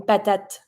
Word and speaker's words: patate: Every time the E is at the end, it's going to be mute. Une patate. You always pronounce the little letter or the consonant that's just ahead of the E. So even if you don't pronounce the final E, you're going to be pronouncing the final T.